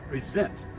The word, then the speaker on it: present: to the two men, present, with the accent on the second syllable.